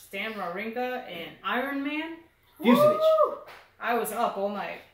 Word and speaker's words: Fucsovics: It's actually, it's Fucsovic. That's how they say it.